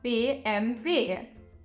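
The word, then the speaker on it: BMW: be b m and what do we say about that last letter that's right it's pronounced V so we have b m v which is short for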